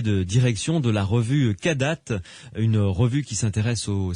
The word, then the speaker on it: Kadath: Il s'agit donc, le nom du site c'est kadat.be. Kadat, ça s'écrit KADATH.be.